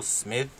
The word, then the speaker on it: Smythe: And they had a player last year by the name of Will Smith, but it's spelled Smythe, who's playing basketball at Loyola this year.